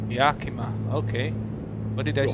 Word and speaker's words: Yakima: counterclockwise rotation, and will be continuing straight for Yakima. Mount Adams. Yakima. Was Yakima? Yeah, I'm local to this area. Yakima. Yakima, okay.